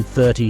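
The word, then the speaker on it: thirty: stress Falls watch this in 13 the stress is on the second part te in 30 stress is is on the first part thir practice with me 14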